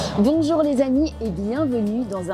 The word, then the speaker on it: bonjour: Il existe des sons similaires en anglais dans les mots uncle et song, par exemple.